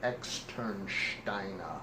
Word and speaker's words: Externsteine: Externsteiner. Say it again. Externsteiner, but there's no H. It's just German pronunciation.